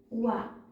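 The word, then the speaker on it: は: ल थोरै डेफिनेसन हेरौ है त पार्टिकल वालाई कति बेला प्रयोग गरि भनेर लख्दै जान्छु हेर्नुहोला है त यदि हिरागानाको हा है हिराकानाको हालाई पार्टिकल्स को मा लिन्छ भने हालाई वा भनेर उच्चारण गरिन्छ।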